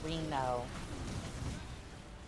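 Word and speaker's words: Renault: Oh, it's pronounced Reno.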